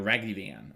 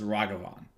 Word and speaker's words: Ragavan: I don't want to be the guy saying rivan or whatever you know it's ragavan right and learning the pronunciation like abishkar for example is how you